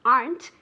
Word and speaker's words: aren't: and remember also that the pronunciation of the verb to be in the negative aren't is one syllable I never ever ever